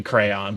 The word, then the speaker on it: crayon: that like a it's supposed to be crayon but I I do pronounce it you know still like the way that it doesn't take it doesn't like it basically it has like one syllable as opposed to uh as opposed to two but prob like going